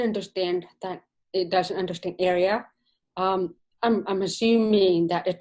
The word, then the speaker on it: ARIA: at understanding many coding words, but didnt understand ARIA like in ARIA which is an acronym, so I am wondering I pronounce it "area" so thats something!!